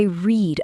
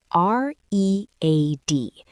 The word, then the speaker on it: read: R E A D But, the pronunciation changes. In the past, it sounds like the color red. Ah, today I read, yesterday I read.